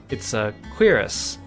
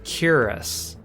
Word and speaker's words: cuirass: You looked up the American pronunciation. It's Quiris. In the British, it's Cuirass.